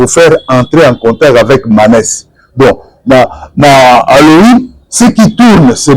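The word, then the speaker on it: Manes: en réalité c'est faire entrer en contact avec Manè Halloween ce qui tourne c'est Manè h c'est Manè on va un peu voir un peu Manè manè dans le dictionnaire tout tourne autour de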